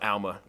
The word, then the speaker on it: Alma: Alma yeah that wasn't fun but you know Alma is the proper pronunciation dude you're crushing it on social social